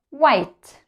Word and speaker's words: white: of my favorite colors White White okay so as you've noticed we don't pronounce the letter H right let's review all the